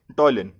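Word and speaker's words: ptyalin: P is silent here, so we'll pronounce it like टॉयलिन.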